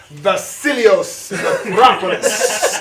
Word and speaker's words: Vasilios Metropolis: His name is Vasilios Metropolis. He hails. No, you don't even say it right. It's Vasilios Metropolis. I mean, you gotta hear it like in a coliseum, like Vasilios Metropolis.